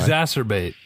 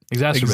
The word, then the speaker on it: exacerbate: every time I try exacerbate right exacerbate exter exac exacerbate not exter albate Exorcist ex exercise exercise